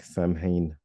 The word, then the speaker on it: Samhain: or Scotland uh but it's usually like sewing with a long o or or just sun with a shorter o uh again uh November